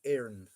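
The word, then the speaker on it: Éireann: Radio Telefish Aaron. Radio Telefish Aaron. Um, the accent over it, John. It's fodder. It's called a fodder. A, um, it gives an A sound.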